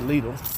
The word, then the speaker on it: Lidl: we got some stuff called Lidl or Lydell or Lydell they pronounce it legal it's kind of like